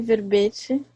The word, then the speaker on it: verbe: Enquete e verbete. Verbe e enquête. Em francês fala verbe, para dizer verbete, e enquête, para dizer enquete. Enquête e verbe. Verbe. O E final é mudo.